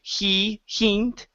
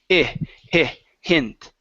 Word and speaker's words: hint: one here is hint instead of saying he hint with a long e it's hint hint good so I'll give